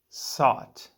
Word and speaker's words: sot: googaz our next word is sought pronounced as sought one syllable sought is a noun and means a